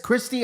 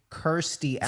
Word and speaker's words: Kirstie: __ ] has happened that would be Kirsty let's spell it c i r there's no c in there I mean k-i-r yeah your idiocy rubs off on